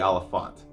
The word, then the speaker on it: Olyphant: you say his name okay it is Timothy Olyphant hopefully y'all don't mind my distortion of trying